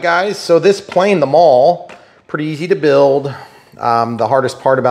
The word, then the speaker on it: Maule: so this plane the mall pretty easy to build um the hardest part about this plane is not pronouncing the E and looking like an idiot like me I did